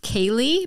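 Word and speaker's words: Ceilidh: an Irish name suggestion pronounced Kaylee but spelled c-e-i-l-i-d-h naturally uh it means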